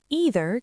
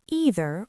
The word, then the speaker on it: either: Either can be pronounced either or either. Both pronunciations are correct.